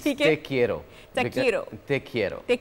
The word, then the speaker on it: te quiero: अच्छा, लोगों को ये बताएं कि A, how to pronounce it? It's te quiero.